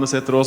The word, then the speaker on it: Setterås: You may wonder what these weird characters are in my last name there. So yes, I'm Norwegian. It's pronounced Setterås, or for short.